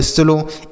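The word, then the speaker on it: slow: तो ओ W last में अगर रहेगा तो हम ओ की मात्रा पढ़ते हैं। ठीक है? ये सब चीजें हमने बता रखी है पीछे की वीडियोस में। यहां पर तो हम आपको शब्दों को पढ़ना बता रहे हैं ना। वहां पर हमने नियम से बताया है कि ओ डब्ल्यू रहे तो ओ की मात्रा पढ़ते हैं।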